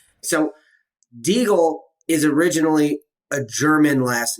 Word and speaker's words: Degle: want to go by diggle now or some combination of the two so the my name is pronounced deagle that is actually how you pronounce it i just spoke okay yeah so like okay